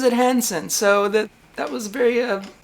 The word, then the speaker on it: Hansen: He pronounces it Hansen.